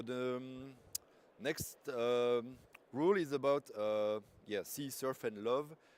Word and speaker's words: CSRF: So the next rule is about C, surf, and love. Basically, the pronunciation for C surf, CSRF. So cross-site request forgery.